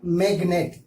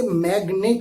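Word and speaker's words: magnet: ان میں سے پہلا لفظ ہے میگنیٹ. جی کے بعد ان آیا ہے لیکن پھر بھی جی سائلنٹ نہیں ہو رہا ہے, ہم اسے میگنیٹ بولیں گے.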